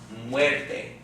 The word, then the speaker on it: muerte: then see that diphthong how many syllables in the word and white-faced two syllables alright which syllable has the accent according to our rules second-to-last right which would be la muerte lop web de la